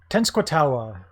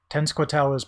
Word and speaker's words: Tenskwatawa: Glad I learned how to pronounce his name in the last one. Tenskwatawa, was also called the Shawnee Prophet, was known for his visionary abilities.